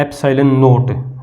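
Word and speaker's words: ε₀: कैसे पढ़ेंगे इसको, एप्सिलॉन, जैसे इसको ये जो नीचे लिखा है इसको हम बोलते हैं एप्सिलॉन नोट, 0 लगाया ना तो नोट, एप्सिलॉन नोट, इसको बोलेंगे एप्सिलॉन एम। तो ऐसे ये स्पेलिंग बनती है, एप्सिलॉन एम बोलेंगे।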